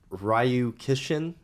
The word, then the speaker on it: Ryu-Kishin: very familiar so I bought it it's called ryu-kishin is that you pronounce that high you yo expert here yes